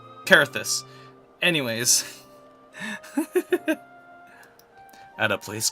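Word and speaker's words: Coerthas: lorewise we're in aoria he's he's just pronouncing everything wrong so carus is where we're at cuz it's spell c o e ER carus anyways at a place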